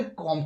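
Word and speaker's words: comb: यहाँ पर देखिए दोस्तों बी एम के बाद बी आ रहा है, तो इसलिए यहाँ पर हम इसका प्रोनाउंसिएशन नहीं करेंगे, कॉम करेंगे।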